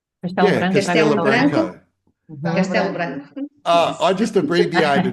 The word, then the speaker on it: Castelo Branco: is it Casabranco? Yeah, Casabranco, that around that central Portugal. Did I pronounced it poorly? Casa Branca. Castelo Branco. Yeah, Castelo Branco.